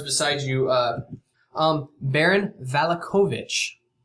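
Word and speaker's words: Vallakovich: of the guards beside you uh um Baron valakovich spell that please v-a-l-l-a kovich okay how do you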